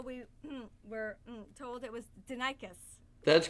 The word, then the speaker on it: Denikos: had to find something we thought it was danikos until we were told it was denicus that's correct it is it's actually denicus but